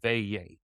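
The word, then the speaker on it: veillée: is called VA and it's spelled really weird but it's pronounced v-a-y-a-y they yay and it's basically and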